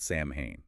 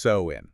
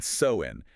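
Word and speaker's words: Samhain: years ago, Celtic Ireland, with a festival called Sam Hayne. Okay, Sam Hane. Let's unpack that. Pronounced so in. Right, that's the one. sew in and it wasn't just you know a holiday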